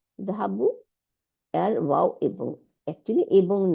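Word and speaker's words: ذهبوا: এই আলিফটাকে আমরা উচ্চারণে আনি না।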